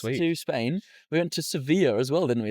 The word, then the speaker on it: Sevilla: Seabilla. If you Google how to pronounce it in Spanish. Yep. Sevilla. A Spanish person there told us it was Sevilla.